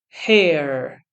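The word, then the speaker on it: hare: so first of all we have hair hair both of them have the same pronunciation hair hair the first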